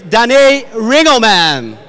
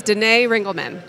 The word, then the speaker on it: Danae Rangelman: her first here is danny ringo man take the stage did i actually pronounce it well this is always the super first question okay say it properly my name is danae rangelman danae okay denae so